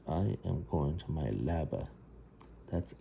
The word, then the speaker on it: leaba: And I am going to my leaba.